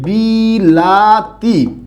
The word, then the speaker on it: বিলাতি: একটা শব্দ লিখলাম হচ্ছে বিলাতি খেয়াল করছেন বিষয়টা এই বিলাতি শব্দটাকে আমাদের কলকাতার বন্ধু যারা আছে তারা উচ্চারণ করে এরকম বিলিতি বিলাতিকে কি বলে বিলিতি এবার একটু খেয়াল করুন